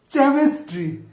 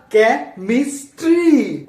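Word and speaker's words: chemistry: না এটা chocolate chocolate সিচ থাকলে চ এর মত উচ্চারণ হবে এইটা কি হবে চেমেস্ট্রি না এটা কে মিস্ট্রি এগুলা কেমনে এগুলা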